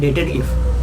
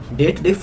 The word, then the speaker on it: DATEDIF: Google में देखोगे ना, वो लोग बोलते हैं डेटेड इफ। डेटेड इफ नहीं होता है, डेट डिफ फॉर्मूला होता है।